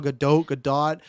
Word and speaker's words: Gadot: It's like how we fought about Gal Gadot. There's no T in it.